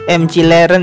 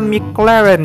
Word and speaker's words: McLaren: mobilnya yaitu McLaren ya ada yang bilangnya m cileren ya Gan Tapi pengucapannya bentar atau McLaren ya eh mobil yang dipakai